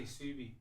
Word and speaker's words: KSUBI: I would say Subi. So you're saying Subi because the K silent.